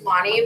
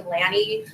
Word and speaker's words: Lanee: I should learn from that actually because my name is Lonnie, but it's spelled Lanee, so people call me Lanny, Lene.